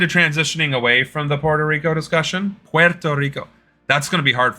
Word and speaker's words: Puerto Rico: I usually just say I usually just say Puerto Rico because when I say Puerto Rico people go I don't speak Spanish I'm like I'm not speaking Spanish I'm pronouncing it properly you know what's funny